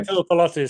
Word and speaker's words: Tuipulotu: Tuipulotu, sorry, yes.